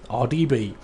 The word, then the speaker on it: RDB: RDB? Yeah. Easiest way is just think of it as the letters. The letter R, the letter D, and the letter B. RDB.